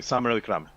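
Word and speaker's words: Samarawickrama: to pronounce his surname, Samara Wickrama, but you say it quickly, Samara Wickrama. Sir, that's a W that sounds like a W?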